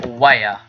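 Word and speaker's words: Ware: Anything for Weyer, which is how you pronounce that, is, yeah, there's something done for Weyer, July 19th.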